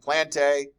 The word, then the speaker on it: Plantae: want to say it plantae AE is pronounced a and Animalia so anything